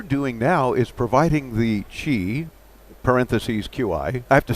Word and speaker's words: Qi: Yeah, I guess some people might try to actually think it's a word otherwise in English, Kai or something, whatever. Chi.